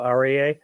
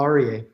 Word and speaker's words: Aryeh: I'm here with Paul arier and I'm sorry I'm I'm sure I'm mispronouncing your name do you want to go ahead and share it with us you said it perfectly Paul arier okay great so you